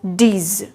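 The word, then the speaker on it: dix: nerf ten is pronounced as ds ten is pronounced as dis dis now eleven how do we pronounce 11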